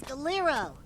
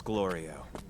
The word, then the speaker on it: Glorio: He's Gero. Ignore him. It's Glorio. Always getting his name wrong.